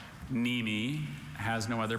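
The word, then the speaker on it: mneme: Very tricky. Silent N.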